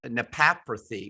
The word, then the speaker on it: naprapathy: With a doctorate in you call it manual, but it's naprapathy, right?